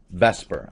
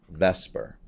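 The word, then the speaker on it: VSEPR: shell electron pair repulsion that's Vesper I know it's spelled vper but that is Vesper electrons are negative right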